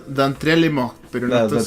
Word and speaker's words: D'entre les morts: No tenéis que pronunciar nunca la S. La S, No. no. Ya, Debería ser D'entre les morts, pero no La estoy de seguro.